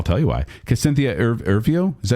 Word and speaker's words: Erivo: Because Cynthia Erivo, is that how you say it? Erivo, thank you.